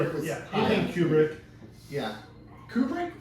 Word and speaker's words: Kubrick: Yeah, Kubrick or Kubrick? It's Kubrick. You're right.